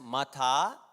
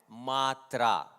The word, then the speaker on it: Matra: So in all the books that has been produced so far, it is given as Matha. You should chant Matra.